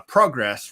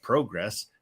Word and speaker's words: Progress: 2 uh in uh progress wrestling uh you'll notice i said progress instead of just progress um because it's a british promotion yeah use the british pronunciation uh speaking of upsets